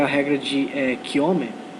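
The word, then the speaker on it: Cramer: Existe uma outra regra, que é a regra de Kiome. Ele era sueco, então a pronúncia seria mais próximo disso, não seria simplesmente Kramer.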